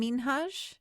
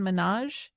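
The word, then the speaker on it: Minhaj: Hassan Hassan Minhage instead of Hassan Minaj like Okay. Well, that people just started saying that way and he just never spoke up about it. And then one day was like, "Hey, so my parents are over there in the audience listening to you pronounce my name wrong.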